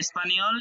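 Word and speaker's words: espagnol: এই দুইটার উচ্চারণ নি যখনই জে এন একসাথে পাবেন এই জে এন এর উচ্চারণ করবেন নি তাহলে এটা কি হবে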